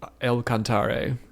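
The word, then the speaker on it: El Cantare: Okawa pronounced it, but Elcantar is supposed to be borrowed from the Italian uh meaning God sings or the song of God. Yeah. So, you would pronounce it Elcantare, but he probably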